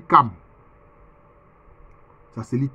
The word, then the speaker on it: Cham: Quelquefois, ça s'écrit en français Cham, C-H-A-M. Mais en fait, ça se lit Cam. Ça se lit Cam.